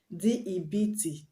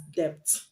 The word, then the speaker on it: debt: always be silent example death d e b t death you don't pronounce that word as debt but debt another example is doubt